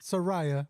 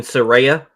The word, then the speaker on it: Saraya: Not Soraya, Mariah. You mean Saraya?